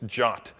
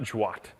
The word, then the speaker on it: JWT: of the spec says you pronounce this joot I guess they just really didn't want to have like the GIF vers GIF controversy so it's jot not jwat so I take this